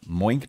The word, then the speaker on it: Moink: Heather, this will come as no surprise to you, but our final sponsor this week is Moink. Mm-hmm. That's Moo plus oink.